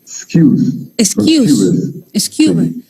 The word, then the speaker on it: Skewes: La pronunciación correcta es Excuse.